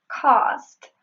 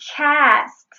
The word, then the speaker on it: cast: When she said cast, she said sort of like the British version, like cost. But again, she was not using the aspiration. It is supposed to be cast.